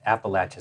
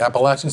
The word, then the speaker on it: Appalachian: You said it right. Appalachin State. I was practicing and I almost messed it up. I thought you were going to say Appalachian State. It's like Appalachian No Appalachian State.